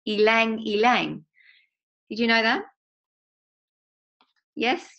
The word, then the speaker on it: ylang ylang: And it says, did you know that ylang ylang is pronounced ylang ylang? Did you know that? Yes, you knew that. Okay, good. No, okay. So the Y is pronounced as an E.